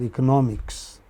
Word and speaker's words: economics: So, like like economic you can also have economics. Okay? The stress on the third syllable from the beginning.